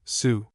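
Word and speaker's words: Sault: the little town of Salt Estarie pronounced abruptly sue.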